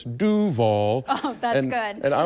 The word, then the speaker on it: Duval: Well, I am Duval, or as I'm learning to pronounce my last name, it's Duval.